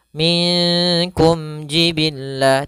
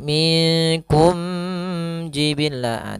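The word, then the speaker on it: مِنْكُمْ جِبِلًّا: dinamakan dengan izhar syafawi cara membacanya harus jelas suara mimnya minkum jibilla tidak boleh minkum jibillah tidak tidak ada namanya gunah di sini kemudian Jiban Kemudian pada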